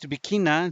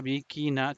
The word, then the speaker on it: bikina: The word bikina divided into three syllables, sung separated. La bikina tiene pena y dolor.